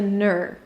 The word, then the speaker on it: entrepreneur: Here you have two options. either ner as in nerd or nervous and the other option is nor that rhymes with poor. We're going to practice today the the first option because it's a little easier to pronounce and it doesn't matter which one you use actually.